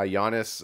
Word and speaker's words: Giannis: video where i think giannis which which i'm honest you don't pronounce the g uh giannis uh what he did